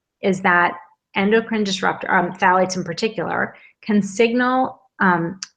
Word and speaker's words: phthalates: contain phades it's uh it's spelled right there p t h a l a t s so phalates make fragrances Linger Longer um